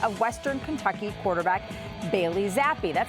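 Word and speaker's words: Zappe: by the pick of western kentucky quarterback bailey zappy that's how you say his name right zappy sure yeah great that's it all right he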